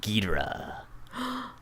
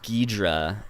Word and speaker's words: Ghidorah: come down and fight Godzilla and that's King Ghidorah I don't know if I know that one